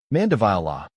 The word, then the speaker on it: Mandevilla: Vile like vile with the emphasis on this syllable and a long i sound.